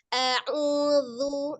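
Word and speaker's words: أعوذ: Yang benar huruf zal. Bukan huruf zai, bukan juga huruf bod.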